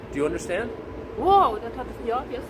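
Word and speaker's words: hü: Whoa, stop it.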